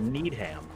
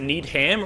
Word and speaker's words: Needham: in a town called needham neither did you pronounce it need him or did you pronounce that need him need him you say neither need